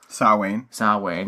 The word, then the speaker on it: Samhain: And that's what this, tying back to the whole little rant Loomis went on about, and you can pronounce it because I can't. Samhain, yeah, type thing.